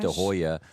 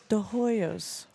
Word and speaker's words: De Hoyos: De Hoya 29X. He's dropped Hoya, 1X. There's not even an A in the name. De Hoyos.